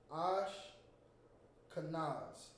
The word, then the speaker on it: Ashkenaz: So in the Hebrew, it's pronounced similar. It's Ash. It's Ash. Ash. Kanaz. That's pretty decent. I even say it's pretty simple. Ash Kanaz. Cause Kanaz.